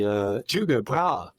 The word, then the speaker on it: Tycho Brahe: And just to clarify, his name was actually Tycho Brahe. That's how it would have been pronounced, but it's Latinized to Tycho Brahe. We pronounce it now.